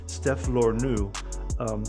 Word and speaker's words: Stef Lernous: director of hotel poseidon steph lorneux now was that close enough i know we were talking about this a second ago off-camera that's great you actually pronounce the s at the end but yes okay that's